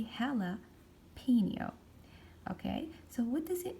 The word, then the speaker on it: jalapeño: at this word jalapeno it's a word that comes from another language this is not an English word this is a Spanish word that's why I'm pronouncing this J letter as H so I will say hella P neo okay so what